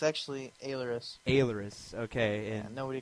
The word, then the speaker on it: Ailerus: It's actually Ailerus. Ailerus, okay. Yeah, And nobody can pronounce it, so it's cool.